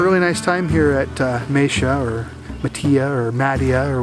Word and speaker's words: Matia: I'm going to refer to it as Matia, because that's what I grew up calling it. I've also heard it pronounced Matia or Matia or any other variation, but no matter what